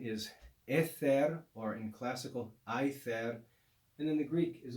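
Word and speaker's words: aether: sky the latin is ether or in classical i there and then the greek is also i there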